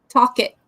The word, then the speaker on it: Talcott: Oh, Talcott. Talcott. Cool. Yes, and Felicia says to Sandrine, hope that you are better soon. Oh, she said, or even a better pronunciation is talk it.